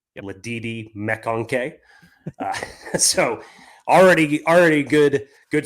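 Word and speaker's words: McConkey: I want to point out that that caller pronounced lad mak's name correctly Lei mcon so already already good good swing number one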